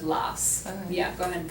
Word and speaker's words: las: And remember, in Spanish, remember to pronounce the S at the end Okay. of las.